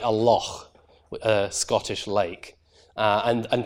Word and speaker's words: loch: certain words, like a loch, a Scottish lake. And in fact, a lot of English speakers will pronounce that lock.